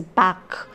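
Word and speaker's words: Bach: fug is JS Bak I had pronounced it bash earlier I'm sorry it is Bak okay JS Bak who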